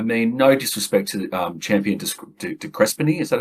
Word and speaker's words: de Crespigny: no disrespect to Champion de Crespigny, is that how I pronounce it? Champion they say de Crespigny, but yeah. De Crespigny, okay, leave the S out.